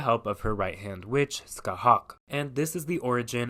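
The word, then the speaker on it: Scáthach: There's quite the debate on the pronunciation of this name, but Skahawk is the one I'm sticking with for this video.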